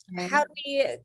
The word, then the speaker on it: Peniel: So Jacob named the place Peniel, meaning I have encountered God face to face, yet my life has been preserved. Did I pronounce that correctly? Yeah, Peniel.